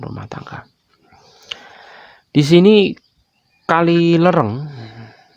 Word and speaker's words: Lereng: tangga di sini kali lereng walaupun pada peta Belanda ini disebut pakai a ya kayak mungkin ejaan a kemudian tulisan a dibaca e gitu Ya kali lereng